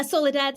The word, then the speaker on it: Soledad: fact listening tour was soledad am i pronouncing that right soledad yeah soledad solida anything yeah you know people it's really well it's spanish so it's my full name